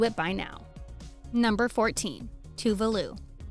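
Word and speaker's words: Tove Lo: One thing that's usually missed in the pronunciation of this Swedish pop star's name is the accent on the E, which makes a big difference when thinking of pronouncing her name.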